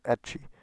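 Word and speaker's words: ecchi: forth the observation that term hentai found itself sort shortened to h and that the english pronunciation was etchi referring to lewdness and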